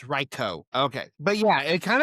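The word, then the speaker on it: Raikou: It's pronounced Reicho, not Raichu. I've I pronounced this Pokemon's name wrong. My well, not my whole life. Hasn't been around, but since it's existed, it's Reicho.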